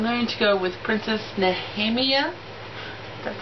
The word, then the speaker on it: Nehemia: But I'm going to go with Princess Nehemia. That's how you pronounce her name.